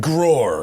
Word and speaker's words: G-Roar: The other thing the G580 has, which is funny, it's called G-Roar. And so it's for the first time. Yeah, well, they're German. But for the first time, pronounced Grohr.